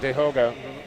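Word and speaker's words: Tehoka: wears the number one his name starts with t even though you pronounce it de hoga so have monitored him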